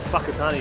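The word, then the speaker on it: Whakatāne: was that in uh a place called fuckatani you might have heard that but uh yeah it's a genuine place and that's how you pronounce it and um just so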